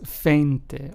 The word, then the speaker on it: veinte: Whereas we have veinte, which means 20 in Spanish, is pronounced as feinte. Almost like if it started with an F, right? But not really.